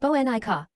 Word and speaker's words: Bonuka: The gazelle's name was Bonuka, pronounced Banika.